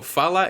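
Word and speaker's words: фала: here get your word in Macedonian today so fallout is how you say thank you if you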